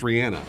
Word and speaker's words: Rihanna: and it's pronounced Rihanna?